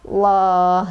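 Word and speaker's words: الله: tafkhim atau tebal adalah lafadz Allah yang didahului oleh huruf yang berbaris fathah atau huruf berbaris Doma maka cara bacanya adalah loh dapat bawahnya loh seperti itu Oke sekarang kita akan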